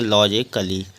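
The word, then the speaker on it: logically: A double L वाई यहां पर भी ए के बद डबल एल वाई है तो ए साइलेंट इसको पढ़ेंगे लॉजिकली अगला है सी आर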